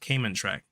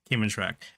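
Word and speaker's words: Kmntrac: This is pronounced this is pronounced Cayman track. Cayman track and is the voice of um the Cameron Memorial Navy officer that assigned to guide them.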